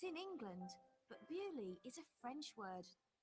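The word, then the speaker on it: Beaulieu: It's in England, but Bewley is a French word. In English, we say Bewley, but in French, it's Beau-lieu, beautiful place.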